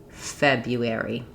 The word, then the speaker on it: February: We stretch the first syllable, feb, because it's stressed, and the other three go quickly.